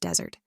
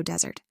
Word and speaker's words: desert: The Sahara is the world's largest desert, but also desert. Stress changes now.